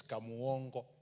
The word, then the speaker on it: Kamuongo: Honorable Speaker, it is Kamuongo. That's the way we pronounce it down there.